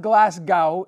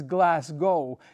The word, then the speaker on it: Glasgow: It's not Glasgow, it's Glasgow.